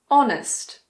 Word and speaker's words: honest: There are also a few words that start with a silent H. For example, air, honest, honor, hour.